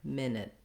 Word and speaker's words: minute: your first syllable then when we get to minute we also have a long stressed first syllable with the vowel like it and did same vowel in the second syllable but much shorter minute minute so it is like the word it at the end even though it's spelled here with letter u that sounds like min it so second minute our